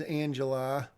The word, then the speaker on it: Angela: She's introduced as Angela. She says Angela here. And then she says, well, it's pronounced Angel. And then she talks about how it's pronounced.